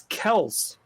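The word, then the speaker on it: Kelce: ooh pick me i got it travis kelsey okay that is incorrect john what is number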